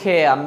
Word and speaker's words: care: আমেরিকানরা আরটা উচ্চারণ করবে, ব্রিটিশরা আরটা উচ্চারণ করবে না।